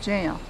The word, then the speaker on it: gaol: the jail it's about gaol in colonial days in pronounced jail and also on the